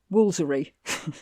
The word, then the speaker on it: Woolfardisworthy: It actually has it on the sign, Woolfardisworthy, brackets, Woolsery. Brackets. Woolsery. So it actually tells you how to pronounce this place.